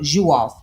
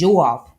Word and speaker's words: Diouf: So the name is the Dio is pronounced as Jo. It has the J sound.